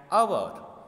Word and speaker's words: hour: of the mouth first so h is silent here so that's why we